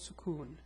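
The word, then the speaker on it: سكون: name is suon so this shape is called sukon what does it do well it gives just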